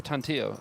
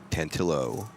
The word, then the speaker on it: Tantillo: He he pronounced it Tantillo, but I would Yeah, it's more that in Italian.